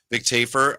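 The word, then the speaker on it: Vic Tafur: Today on our show, I know Vic Tafer is going to be with us. Vic Tafer. Sure. That's how you pronounce it.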